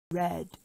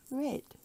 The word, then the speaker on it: red: This word is pronounced like the past tense of read, which is read, like have you read your book yet? Many people in Singapore pronounce this as read. Read, which is wrong. So be careful of this word next time when you say it.